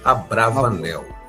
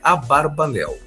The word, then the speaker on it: Abravanel: tá a brav Nel há um debate sobre se o sobrenome deve ser pronunciado a Barb leu ou a bravanel a pronúncia tradicional é a barbanel a literatura acadêmica moder des tem mais comumente usado o Abravanel no entanto seu próprio filho Judá insistiu em a barbel e de Elias Levita